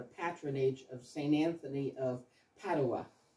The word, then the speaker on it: Padua: of St Anthony of padaa and some people pronounce it Padua so I guess it depends if you're Italian or not um the Italians in padaa claim St Anthony as